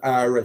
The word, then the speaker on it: Qawra: Pronounced Aura, spelled Qawra.